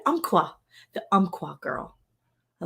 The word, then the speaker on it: Umpqua: Umpqua.